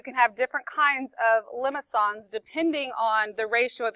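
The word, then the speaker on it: limaçon: But you pronounce it limicon. I don't know. The fancy C does that. Makes that S sound.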